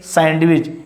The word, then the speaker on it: sandwich: Many students, they pronounce particular this word sandwich, but don't say sandwich. It's a sandwich. Here is D is silent, but you have to write down.